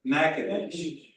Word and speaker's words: Natchitoches: Natchitoches. Harlem. Sister Cindy. Sure doesn't look like it's spelled like.